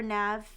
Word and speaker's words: Nav: Oh, just pronounce I or Nav. Just call me Nav.